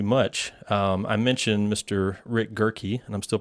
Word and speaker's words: Gehrke: Rick Gehrke, and I'm still pronouncing it correctly, right?